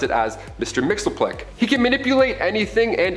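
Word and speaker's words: Mxyzptlk: His real name doesn't even translate into Earth's languages, but we collectively pronounce it as Mr. Mixleplick.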